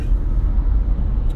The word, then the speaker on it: hour: 7.22 miles per hour our hour is our two syllables our one syllable our our our power should be one simple syllable but i think we end up making it two syllables by saying our like we put a w in there or something i don't